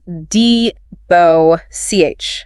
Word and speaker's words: debauch: Next is deboss. pronounced dbo ch. Dbo ch. This word has a single clear syllable sound at the end. Bo ch.